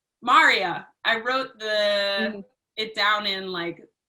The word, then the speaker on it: Maria: Maria, like Daria. Maria.